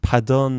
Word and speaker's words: pardon: 조금 듣지 않았던 발음이네 여기서 퍼가 프랑스에서 파로 변합니다 약간 그래서 런게 조금 좀 어렵긴 해요 그래도 이게 재미로 아 요렇게 변했구나 알아두시면 또 나름대로 흥미롭죠 그래서 파던 하면 완전히 용서해 주는